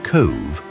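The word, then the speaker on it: Cobh: Cove, pronounced Cove, sits on the south side of Cork Harbor with a population of just under 13,000.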